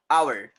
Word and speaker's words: hour: no we say and our h is silent h is completely silent and the next letter